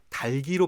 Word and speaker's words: 닭이: 중요한 건 뭐냐 이렇게 실제로 원중들은 다 닭이라고 말을 하고 있지만 합리적 그러니까 이론 이체 근거해서 논리적으로 따질 때는 달기로 발음하는게 맞다라고 해서 아까 얘기했죠 합리성을